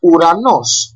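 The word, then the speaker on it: ουρανός: o let's go on are pronounced U like to like this o over here like uranos that means Sky we write it like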